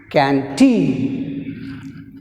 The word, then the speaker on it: canteen: Next word is canteen. Canteen. Canteen. In canteen, first syllable can, second syllable teen.